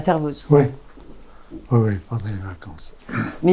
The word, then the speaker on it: Servoz: Comment on prononce Servoz? Oui, Servoz. Bon, pas cerveau.